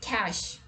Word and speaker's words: cache: the list is cash here in this word e is silent and most of the people think that it has ch means cheer sound in it so how come it is pronounced as cash right catch might sound logical but unfortunately in english for a lot of words we don't follow logic so it's not cash it's cash so now you might